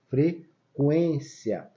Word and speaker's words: frequência: OK e trema antes a gente usava trema em cima da palavra frequência pra gente saber que deveríamos pronunciar o u por isso que a gente botava trema frequência olha como é que